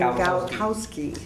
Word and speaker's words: Galkowski: I don't know how to pronounce her last name. Galkowski. Yep. Thank you.